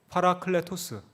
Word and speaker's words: 파라클레토스: 클레 토스 라고 합니다 한번 발음 해볼까요 파라 클레 토스 예 예 팔아 클레 토스 입니다 두 글자가 합쳐진 말입니다